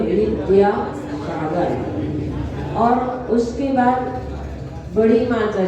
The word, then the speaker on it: विद्यासागर: सभी लोग बोलते हैं विद्यासागर, ऐसा है ही नहीं, ना बाबकरी का है ना धाधनुष का है, लेकिन सब लोग बोलते हैं विद्यासागर। सही उच्चारण है वा तो वी, दा और या, विद्यासागर।